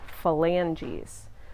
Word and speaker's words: phalanges: the finger bones like the toes are called phalanges that's PHA lan GES phalanges the pH of spelled F is pronounced like an F by this point in